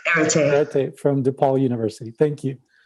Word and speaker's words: Erete: Can I have you pronounce her name and last name? Erete from DePaul University.